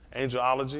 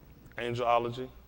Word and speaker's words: angelology: christian whether anglo angology angiology is that you pronounce that oh it's no angelology i said close enough